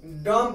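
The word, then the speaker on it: dumb: डॉम, डॉम, डॉम नहीं, डॉम पढ़ेंगे, डी यू एम बी.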